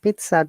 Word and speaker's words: pizza: You see there is no Z in the phonetic symbol.